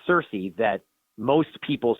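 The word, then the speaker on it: Circe: help keep us grounded there are many different ways to say some of the ancient Greek names depending upon whether you want to use the hard the the K version of the hard C or not Cersei the wizard The the Sorceress could be announced Kirky you could say a turkey but it has become so um colloquialized as Cersei that most people say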